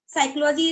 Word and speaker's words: psychology: talk about the P psychology is p silent it means I I just play the game with him like P is the hidden part and P is not uh is not visible to you feel like that spelling